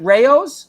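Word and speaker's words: Rao's: actually no i've never been there do you pronounce it rayos yeah i've never been there you know i got i gotta say something rayos now i guess they they um their sauce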